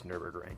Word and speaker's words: Nürburgring: It's Nürburgring.